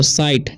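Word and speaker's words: sight: है उसी तरीके से एस आई जी एसटी है तो एस से हो जाएगा स और आई का आई तो साई जी साइलेंट हो जाएगा टी से ट तो साइट ठीक है उसी तरीके से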